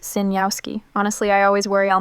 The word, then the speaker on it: Sejnowski: It's pronounced Sinyowski.